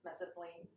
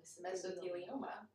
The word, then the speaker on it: mesothelioma: so how and why are people dying from mesoplaned i said it wrong mesothelioma i say we start with the history to